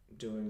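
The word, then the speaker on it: doy: the word to give in Spanish is good I give is DOI so it's like boy ending oh why DOI DOI good I give it good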